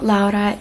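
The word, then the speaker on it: Lowra: I think her name the pronunciation is Laura because she said that her mom gave her the name based on her Spanish Roots now Laura is figuring out who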